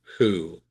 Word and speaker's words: who: One exception to that is the question word uh who that starts with a w the w silent who.